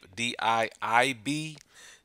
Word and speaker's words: Diib: Today, I'm going to take a look at this product called Diib, D-I-I-B. .com. So I'm assuming that's pronounced Diib, but it's talking about search